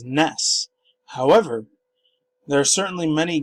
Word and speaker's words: NES: description the home console Nintendo confirms that the NES is pronounced as ness however there are certainly